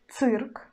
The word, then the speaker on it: цирк: The same situation will be with always hard ц, ц, ц. We pronounce цирк, цирк, цирк.